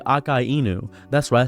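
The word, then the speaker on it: Akainu: As a matter of fact, I'm going to say Akai Enu. That's why I say it correctly, not a Kynu. Learn how to pronounce names correctly.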